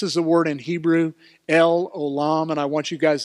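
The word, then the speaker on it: El Olam: last word is alum and that's how it's pronounced let's everybody say we worship say it with me l olam L alum the everlasting God that's that phrase in Psalm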